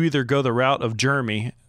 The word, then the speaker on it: Jeremy: Not Jeremy, it's Jeremy. Like he's sickly. He's of germs. Have you noticed that? Yeah, Jeremy is a weird word to say because you either go the route of Jeremy like Kristian does, or